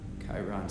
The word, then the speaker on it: Chiron: Chiron still has control over. Oh, it's Chiron. I've been saying it wrong the whole time.